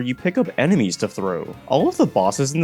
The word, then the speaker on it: Throw: It's actually just pronounced throw.